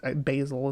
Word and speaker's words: basal: They're both pronounced the same. I guess basal is what the word would normally be, but I basil is what I say. But yeah, basil like the spice, and basal like the organism.